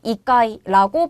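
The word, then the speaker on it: 一階: 여러분, 이때 이치라는 치 발음 뒤에 카이 카행이 왔네요. 그러면은 이치가 뭘로 바뀐다? 초금으로 바뀐다. 그래서 이까이라고 발음하게 되는 거죠.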